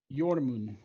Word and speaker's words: Jormund: No, I was gonna do something, but seeing Jormund, is that how you say it? Yormun. Jormund, sending his hawk off.